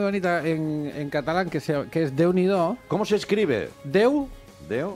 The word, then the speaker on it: Déu n'hi do: Hay una expresión muy bonita en catalán que es Déu n'hi do. ¿Cómo se escribe?